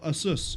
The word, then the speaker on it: Asus: Asus. Or Asus, even. Asus is a really good example, because it's actually Pegasus, but they removed the peg.